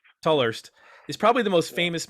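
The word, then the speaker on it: Tolhurst: famously uh i think lowell tour toll horst is how you say it tallerst is probably the most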